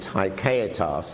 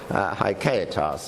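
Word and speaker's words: haecceitas: I mean, the word in Latin is, as I pronounce it, haikaitas. I dare say it's pronounced a bit differently by Brazilians, but haikaitas, and Duns Scotus invented this word.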